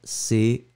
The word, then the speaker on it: camp: Masculin, C-A-M-P. Un camp, le P final, bien sûr, n'est pas prononcé.